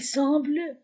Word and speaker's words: semble: E m a la terminaison ne se prononce pas comme il semble bon.